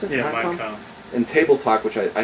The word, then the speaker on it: Mein Kampf: Is that how you pronounce it? Yeah, Mein Kampf.